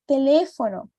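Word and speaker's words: teléfono: são diferentes por exemplo a palavra telefono Então não é telefone como eu comentei com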